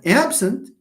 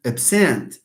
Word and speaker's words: absent: So you have absent and absent. I don't want to absent from these meetings. You have the same word. But when it occurs as a verb, stress falls on the second syllable.